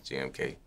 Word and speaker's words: GMK: what is the correct way to pronounce your stage name gmk do people mispronounce this uh yeah some people call me some people call me different types of thing but it's jmk do people misspell it